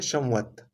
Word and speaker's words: संवत: म का प्रोनाउंसिएशन नहीं किया जाता है, बल्कि बस उसको अ, अंग के हिसाब से सम्मिलित रूप में ले लेते हैं, संवत।